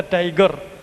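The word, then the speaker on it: TIGR: company which he plotted for this was called tiger The Institute for genomic research in short The Institute for genomic research it is not although it is tagr he used to pronounce it the tiger because he wants to have that stump of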